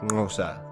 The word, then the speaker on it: Xhosa: Hence Xhosa is usually pronounced something like Xhosa, but I think it's time to explain a bit about the African people and their kingdoms.